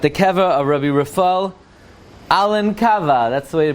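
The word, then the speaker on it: Elnkowa: to close at the Keva of Ruby Rafael Alan Cava that's the way to pronounce it Alan cava he was a descendant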